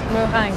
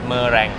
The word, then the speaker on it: meringue: Meringue. Yeah, the R, you got it. Meringue. ไม่ใช่ Meringue.